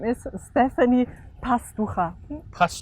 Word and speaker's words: Pastachua: you say your name my name is Stephanie possible ha plus 2 ha yes very good and Stephanie